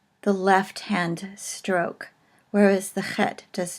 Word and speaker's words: chet: all the time, because it is a chet and it is called a guttural, and it is sort of pronounced in the back of the throat as in the name Loch or Bach.